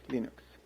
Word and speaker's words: Linux: Hello, this is Linus Torvalds, and I pronounce Linux as Linux.